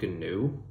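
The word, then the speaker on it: Ganoe: So to that, he kind of starts to, he gets a, we'll say his adjutant, I think it's pronounced GNU, it's kind of like canoe, but with a G.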